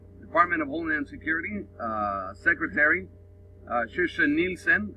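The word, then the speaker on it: Kirstjen Nielsen: Now, Department of Homeland Security Secretary Kirsten Nielsen, that's the correct pronunciation in Swedish, said they received intelligence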